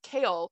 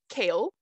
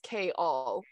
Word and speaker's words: Chaol: she'll be like it's kale two syllables and he goes kale and she's like no it's like not the vegetable it's k-all and he'll just go